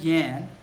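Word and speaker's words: Jan: So my friend Yan, great friend, it's spelled with a J instead of a Y, but that doesn't matter.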